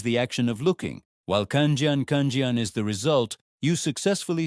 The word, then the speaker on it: 看见: What does the word kjan pronounced kjan mean?